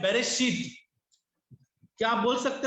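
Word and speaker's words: בראשית: तो अगर हम इस बेरेशीत को तोड़ते हैं तो जो बैर है वो बार है, इसका प्रोनाउंसिएशन बेरेशीत है।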